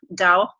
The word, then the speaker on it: Tao: theory comes from Taoist thoughts so t AO dau as in you may have heard the tao